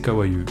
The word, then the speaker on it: Kawayu: Illustré par Kawayu, parce que je disais Kawayo jusqu'à présent, j'étais pas trop sûr de la façon dont ça devait se prononcer, mais a priori, après avoir vu ça à plusieurs endroits, c'est Kawayu.